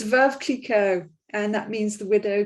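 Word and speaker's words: Veuve: translates to widow before oh yes so it's verve and that means the widow kiko and it's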